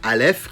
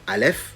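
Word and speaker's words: אלף: peu plus en profondeur quand je prononce la lettre Alef qui s'écrit Alef on entend également un L et un f si on retranscrit ça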